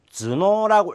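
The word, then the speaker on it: 頭脳: 자, 두통은 주스, 그 다음에 두뇌는 주노라고 읽어준다는 요 두 가지만 알고 있으면 머리 숫자.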